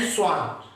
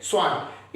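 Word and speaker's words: Schwann: The cell theory that was given by, ये German scientist है, इनके नाम प्रोनाउंस करने में ना थोड़ा सा अलग रहता है। इन्हें कहते हैं स्लाइडन एंड स्वान। स्लाइडन एंड स्वान।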